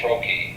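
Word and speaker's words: troche: vaginal suppositories there's also this thing called oral Troi that's how that is pronounced it's just a loss that slowly dissolve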